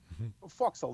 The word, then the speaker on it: forecastle: Fork Sol fosco foxhole forecastle whatever however you want to say it foxhole that well it's the name instead they spell it forecast but it's called foxhole front right quarter panel